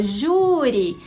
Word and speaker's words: júri: A palavra 17, que era júri, tem acento no U da primeira sílaba, júri. Então essa é a sílaba tônica, logo ela é uma palavra paroxítona.